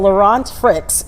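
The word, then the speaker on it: Laurent Freixe: So, this is Nestle CEO Laurant Fricks is how you pronounce his name.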